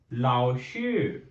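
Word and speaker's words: 老师: I'm going to write the pronunciation meme. And then we have a fifth one, that is a lao shir.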